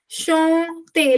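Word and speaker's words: enchanté: It's shante. No, it's shante. Look at my lips. Look how I'm singing. Look how I'm doing the lip sync.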